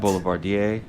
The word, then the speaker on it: Boulevardier: And what did you say about Boulevardier? Yeah, it could also be what? Boulevardier. Which is French.